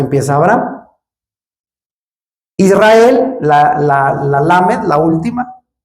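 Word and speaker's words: lamed: Israel, la la Lamet, la última, que se pronuncia como una L, Israel.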